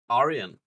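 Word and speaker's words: Aryan: a what fetish iron that is not how that word is pronounce it is in Australia so you mainly because I can't say it the actual other way I literally can't pronounce it an ion fetish ion r y a n is what he's trying to say Arian oh Aran okay right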